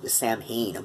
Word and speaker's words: Samhain: prominence would include some Sawin and the misfits and I know Glenn dad's like pronounces it Samhain but you know Glenn